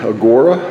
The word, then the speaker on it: Agora: That is the Agora, or the Agora, depending on your pronunciation of it.